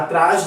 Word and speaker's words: atrás: Então, se você fala, ele está atrás de você, você não está falando da maneira que devia. Ele está atrás. O A tem que ser pronunciado. Eu tenho que ouvir o som. Então, é atrás, trás.